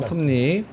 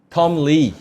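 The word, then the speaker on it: Tom Lee: 톰니 이건 발음을 잘해야 돼요. 톰니 톰 리. 톰리 이렇게 할 수 있잖아요. 톰 리. 그러니까 그렇게 해야지. 오바랑 오바. 톰 리. 이러면 좀 약간 재수없잖아. 톰리 하면 이상하잖아. 톰니.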